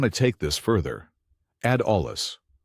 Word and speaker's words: olla: For experienced growers who want to take this further, add ollas. Olla, pronounced olla, is a Spanish word for clay pot and